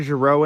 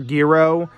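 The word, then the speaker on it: Gero: now I'm purposely skipping over Dr Giro in this or Dr gearo is the proper pronunciation is because he was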